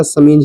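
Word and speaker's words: chemise: जैसे कि समीज सी एच ई एम आई एस ई तो आप चमीज नहीं पढ़ेगा समीज ही पढ़ना है इसको ठीक है सैंपेन सैंपेन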